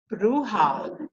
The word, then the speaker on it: ruha: Anyway, I asked them, is the word for breath or spirit ruha? And they said, no, it's ruha. Ruha. They just breathe the H-A. They don't say it. They don't voice it.